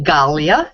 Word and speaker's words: Galia: It's actually Galia, is the way it's pronounced.